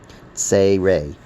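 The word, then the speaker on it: צירי: A, the two dots, horizontal dots, it's pronounced A as in day. It's called a tsei-rei. The name of the vowel has the sound included in its name. Tsei-rei.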